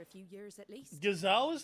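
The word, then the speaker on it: Gysahl: gazal greens for a few years at least gazal is how you pronounce it gazelle greens oh wow I've been pronouncing it like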